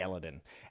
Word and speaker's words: Elodin: Or Elodin? We're going to say Elodin.